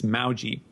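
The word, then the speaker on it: Maujii: it be something that looks like emoji and i guess alexi turned it back to something that was a little closer to the the spelling but it's uh it's maoji um like we're like rhyming with laoji uh but uh here's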